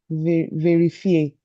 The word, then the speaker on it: vérifier: ER will be A Okay. 99% of the time. Those are just exceptional words. Okay. Fair verifier. Okay. Okay. Vérifier.